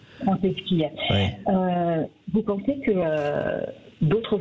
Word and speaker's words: Franceschi: Je souhaitais poser une question à monsieur Patrice, je ne sais pas comment on prononce votre nom. Franceschi. Franceschi.